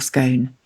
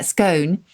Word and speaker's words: scone: country and etymologically speaking although I say it's gone because going to me sounds just a little bit like you're trying too hard it's gone uh scone is a bit closer to the origin which is the German